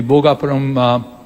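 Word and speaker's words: Bhogapuram: And precisely what SAP or the Seletar Aerospark has done, we can do the same thing in the Bogapuram Aerotropolis, that's how it's rightly pronounced.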